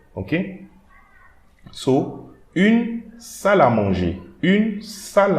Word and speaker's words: salle à manger: So here we are not going to pronounce this E, but this L and the A here will create a liaison. So we are going to read it like a single word.